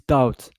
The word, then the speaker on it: doubt: Yes, each language is difficult, including English, because I still pronounce doubt, BT, but normally it's doubt without pronouncing the B.